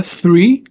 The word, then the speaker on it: three: Et on aura dans les mots tels que three hein, tr c'est pas tre. Tree c'est arbre. Il faut dire tr c'est th dans teeth par exemple.